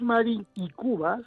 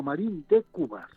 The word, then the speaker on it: Marín de Cubas: sí, no es Marín y Cubas, como hay mucha gente Sí, que erróneamente lo pronuncia, sino Marín de Cubas.